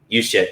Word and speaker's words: Juszczyk: Juszczyk, yeah. I sometimes say it like it's spelled.